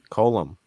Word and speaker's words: Coulombe: Coulombe. It's a silent B.